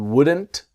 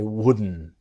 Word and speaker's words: wouldn't: The T disappears. And I wouldn't.